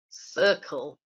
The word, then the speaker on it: circle: says lucy possible cool the dark L sound it's not circle ah Lilliana's also pointed out that different see absolutely we've got two letter C's in this word and they make two separate sounds we've got to at the beginning and the cut at the end sorry right our next